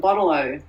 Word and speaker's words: bottle-o: Bottle-o. I don't even pronounce the T.